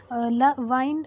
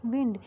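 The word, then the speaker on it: wind: तो इसीलिए हम इसका जो हमारा वाइंड है, जो वर्ड है, इसका प्रोनाउंसिएशन क्या होगा? यहाँ पर होगा वाइंड, नॉट विंड.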